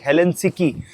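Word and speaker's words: Helsinki: और एक और चीज़ भाई, हेलेंसिकी, इसकी प्रोनाउंसिएशन जो है हेलेंसिकी है, ठीक है।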